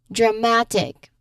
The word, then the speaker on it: dramatic: Stress falls just before egg.